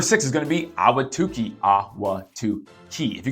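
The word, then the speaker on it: Ahwatukee: right now number six is going to be awatuki AWA to Chi if you can spell it right I'll give you a a big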